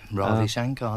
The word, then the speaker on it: Ravi Shankar: I know I pronounced that wrong. Ravi Shankar, that's right.